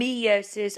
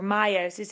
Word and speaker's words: meiosis: is describing mitosis and meiosis or meiosis. It can be pronounced either way.